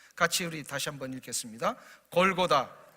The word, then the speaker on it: 골고다: 골고다, 이것은 이제 헬라어인데요, 아람어에 골골타라고 하는 단어를 헬라어로 이렇게 바꿔서 발음한 것입니다. 해골의 장소라는 뜻입니다. 골쿠타, 원래는 이렇게 발음을 해야 되는데 헬라식의 표현으로 한다면 이렇게 골고다라고 표현이 된다는 거예요.